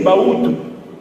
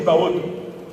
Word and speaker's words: Bahutu: Les Mongo disent Bahutu, ou bien Baoto, ils prononcent aussi Baoto.